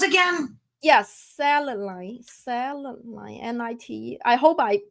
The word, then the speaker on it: selenite: Yes, selenite, N-I-T. I hope I pronounce it right. Selenite.